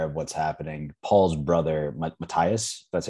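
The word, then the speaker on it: Mathias: for anyone unaware of what's happening paul's brother matthias that's how you pronounce his name him and i guess a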